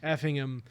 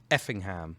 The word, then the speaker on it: Effingham: The hour-long drives from Cape Girardeau, Paducah, Effingham. Yes. Say it correctly for me. Effingham. Thank you. No. Effingham. Like your correct way, not Effingham, not the Americanized way.